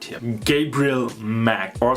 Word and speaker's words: Macht: guy right here gabriel mack or since his last name is a german word it's pronounced macht which means force i choose him because